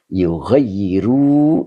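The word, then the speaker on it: يُغَيِّرُوا: Hatta yugayyiru. Itu panjang dibacanya ya.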